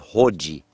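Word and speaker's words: hodji: It is Hoji. I'm not sure of the spelling, but you could spell it phonetically, H-O-D-J-I.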